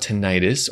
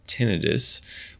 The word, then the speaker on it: tinnitus: Let's talk about tinnitus, or as we say here at Treble Health, tinnitus. Both pronunciations are acceptable.